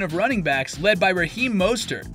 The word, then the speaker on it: Mostert: running backs led by Raheem Mostert (pronounced Most-ert, not moss like on a tree) who can pound the rock without him.